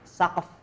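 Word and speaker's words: سقف: Saqf. Ini artinya bacanya gimana? Saqf. Tulangin lagi nih bacanya gimana teman-teman? Ini bacanya saqf. Saqf. Saqf. Saqf. Jangan dikasih harokat ya teman-teman di belakangnya.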